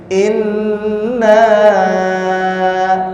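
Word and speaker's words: إِنَّا: Yang pertama yang perlu diperhatikan, ini ada nun tasdid. Maka kenapa dibacanya ditahan dulu? Inna. Jadi seraya ke 2 ketukan ya. Inna.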